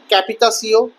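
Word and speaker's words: capitation: ক্যাপিটেশনকে ফরাসি ভাষার উচ্চারণে বলা হয় ক্যাপিতাসিও এবং ভিংটিয়েমেকে ফরাসি উচ্চারণে বলা হতো ভ্যাতিয়াম।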